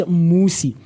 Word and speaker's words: Musi: My name, the reason for that is that my name is Musi, and a lot of people tend to mispronounce it and misspell it as well.